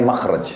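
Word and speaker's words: مخرج: Inggris kan exit ya bahasa Arabnya itu mim Kha ra Jim bacanya makhraj Kenapa digunakan kalimat itu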